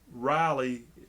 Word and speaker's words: Rilley: they actually say so everyone mispronounces my name it's riley and they say really because it's got two l's it's right there on